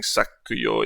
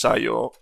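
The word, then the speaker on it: 作用: So instead of being sakuyo, it's just sayo.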